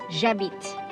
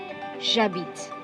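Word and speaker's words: j'habite: be one as one jabbit jabit okay next we have two uh beat again is silent h is silent okay h is silent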